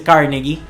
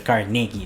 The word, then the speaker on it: Carnegie: Justamente Andrew Carnegie, que mucha gente le dice Carnegie, pero él al haber nacido en Escocia y considerarse escocés americano, realmente su pronunciación tiene que ser Carnegie, ¿no?